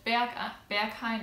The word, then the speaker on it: Berghain: But Berghain is how you say it.